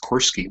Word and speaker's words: Corske: a long story first my last name is pronounced corsky not corsky um I began thinking about I